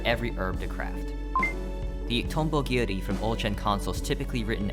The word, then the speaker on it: Tonbogiri: The Tombogiri from old-gen consoles typically written as this, meaning Dragonfly Cutter. However, the Japanese translators for Terraria, Spike Chunsoft, decided to write the name in katakana, still pronounced Tombogiri.